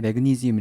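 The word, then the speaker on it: magnesium: 단어가 나왔는데 마그네슘이 줘 마그네슘을 영어로 이제 발음할 때 맥은 이즈미 라고 하는데 바나나 10개 먹고 아니면은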